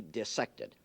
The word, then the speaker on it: dissect: this one cannot be dissected. Parenthetically, you notice I pronounce the word dissected, not dissected. It is not dissection when you cut up fishes and mollusks and cats and things. The word is dissect, and the word is